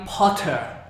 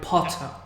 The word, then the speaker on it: Potter: Like Harry Potter, they pronounce Harry Potter with this T. Potter. But American, they shop it out.